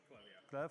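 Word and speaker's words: Klevv: Clev, yeah.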